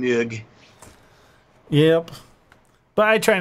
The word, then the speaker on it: Moog: And still, it's funny because Brits can't pronounce the name. No, they cannot. You know, it's Moog, and Moog.